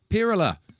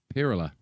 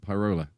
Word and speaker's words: Pirula: £10 from Pirula. I know how to pronounce it now. Pirula. Not Pyrola. Not Pyrola.